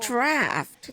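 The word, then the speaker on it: draught: I'm going to stick with drought. Okay, that pronunciation. And to be taken at bedtime. Why is it spelled like that and pronounced draft?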